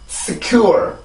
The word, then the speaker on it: secure: 이렇게 발음을 해주는데 지금 여기 순수 음절의 시작이 S예요. 그죠? 순수 음절의 시작이 S면 여기에서도 마찰음의 특징인 공기가 나오기는 나와요. 맞죠? 나와야 되는데 이 발음이 강세 음절이 아니기 때문에 소리가 이제 강하게 공기가 강하게 나와서는 안 돼요.